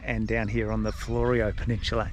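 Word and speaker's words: Fleurieu: down here on the Florio Peninsula, and I hope I'm pronouncing that correctly. We did ask a guy and he said pronounce it Florio.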